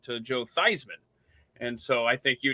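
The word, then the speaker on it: Theismann: Like Joe Thyman changed the pronunciation of his last name when he wanted to uh when he was he was Joe Theman and then when he was you know getting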